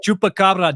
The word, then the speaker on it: chupacabra: Chapa on your face bro your neck it's chupacabra dumb chaaba what the [